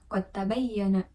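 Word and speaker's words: قد تبين: kedua contoh bacaannya yaitu qad tabayyana Nah itu kan terdapat dua huruf yaitu dal dan ta Yang mana kedua huruf itu hampir dibaca sama gitu nah kemudian Dal ini dibacanya yaitu melebur Kemudian yang kedua ada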